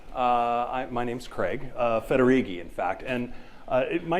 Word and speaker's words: Federighi: your disk or something it's pronounced roughly like this uh federigi um if you forget it you could say fettuccine when i was uh